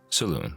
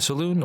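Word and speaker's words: Selûne: let's Jump Right In A Saloon or Saloon as some people like to pronounce it is the Forgotten Realms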